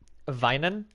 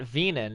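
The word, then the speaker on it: weinen: works like for example if you want to say like um vinen which is like to cry in german you spell w-e-i-n-e-n right which is to cry it's not venon it's called it's pronounced divine now if you say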